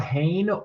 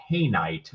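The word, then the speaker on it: Hauyne: So this is called Hain, or it's also called Hainite, depending on what country that you're from.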